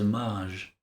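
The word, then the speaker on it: Majj: You're saying it right. It is Maj.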